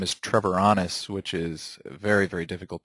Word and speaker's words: Treviranus: My last name is Trevoranis, which is very, very difficult to pronounce, so I usually do care a lot